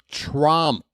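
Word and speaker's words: Tromp: It's Trump. Oh. Rhymes with stomp. Or romp room. Folks, we got a full count on Chadwick Trump.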